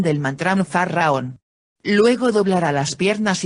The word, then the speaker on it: Faraón: la pronunciación del mantra Faraón. Luego doblará las piernas y volverá a pronunciar Faraón. Cada sílaba se pronuncia en una sola respiración.